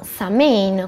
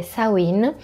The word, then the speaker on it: Samhain: Samhain è un termine gaelico, attualmente molti pagani lo pronunciano Samhain, così come si scrive, ma in gaelico si dovrebbe dire Samhain, ed è una delle due feste del fuoco originali.